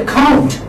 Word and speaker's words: account: this is by syllable how do you pronounce you say account you want to say account you don't say like this you say account you say you say about you say a girl so we are in fit giving the stress on the second syllable so if you remember